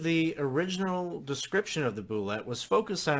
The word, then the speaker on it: Bulette: It was originally pronounced Bulette to make it sound more French. From my point of view, this explanation leaves a lot to be desired for two reasons. Particularly, Bulette doesn't sound very intimidating to me. It's also not how a French speaker would pronounce that word as written. So I'm going to stick to Bulette.